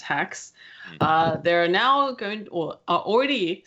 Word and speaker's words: Hax: spelled h ax and it's pronounced hacks there are now good